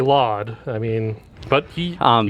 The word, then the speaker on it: LOD: all we know flawed we say laud I mean but he